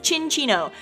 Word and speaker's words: Cinccino: we have learned that the proper way to pronounce its name is chin Chino so there you go